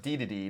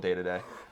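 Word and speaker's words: Dedede: He says, Colin, it's pronounced D-to-D, not day-to-day. He's talking about... Hey, Robbie Guns, if you knew anything about Smash Bros., you know that in Japan, he is called day-to-day.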